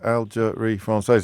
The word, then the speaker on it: Algérie Française: Algérie Française is 5 syllables, and the K.